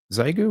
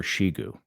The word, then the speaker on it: Xiegu: Zyu or Shigu. I think it might be pronounced Shigu.